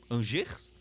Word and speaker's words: Angers: É assim que pronuncia Angers, porque é francês, só Deus sabe.